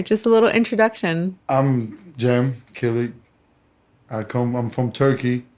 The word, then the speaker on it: Cem Kilic: who you are just a little introduction i'm jim kelly i come i'm from turkey i was born